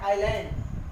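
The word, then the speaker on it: island: S silent कब होता है, जब एस के बाद एल आता है, जब एस के बाद एल आता है तो एस साइलेंट हो जाता है। जिसे हम बोलते हैं आइलैंड, आइलैंड, आइलैंड नहीं बोलते, आइलैंड, आइलैंड, आइलैंड, यहाँ पर एस साइलेंट है।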